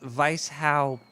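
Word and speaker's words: Weishaupt: the link let's see here John Adam boostrap pronounced Vice how petit that could be a he's got that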